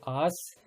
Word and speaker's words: आस: अच्छा, तो आस और आश ध्यान दीजिएगा उच्चारण में भी, ठीक है।